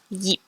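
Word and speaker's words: 頁: Okay, so we've got IP, which is like eep from leap. Example, yeep, which means page.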